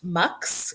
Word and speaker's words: Mx: it mix chist so MX salad Caesar it's pronounced MX and it's the gender neutral of Miss Mrs